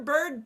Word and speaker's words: bird: they would have um what it sounds like it sounds like r as in car sounds like or as in corn and then these three would be all they all sound like Earth so remember the brackets